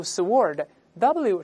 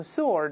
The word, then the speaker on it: sword: 注意剑不要读 sword，w 是不发音的，读成 sword，英国人读成 sword，这个人文武双全啊。